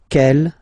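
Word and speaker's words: quelle: the same way and then the feminine form is written like that q l l but it's pronounced like the masculine form k at the masculine Kell at the feminine okay so it's basically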